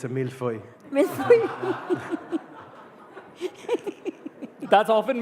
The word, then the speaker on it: millefeuille: But one thing I'd like to correct is, it's not a millefeuille, it's a millefeuille. That's often mispronounced, so thanks for correcting that.